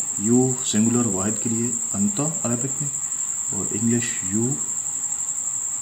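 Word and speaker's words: أنتَ: Anta, pronunciation of this word anta in Arabic, you, singular person.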